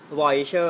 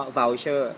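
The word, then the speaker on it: voucher: ว่า อะไร ชอร ป่ะ เรา ชอบ อ่าน ว่า อะไร vocher แต่ จริง ๆ ออก เสียง ว่า เชอร์ แปล ว่า คูปอง คูปอง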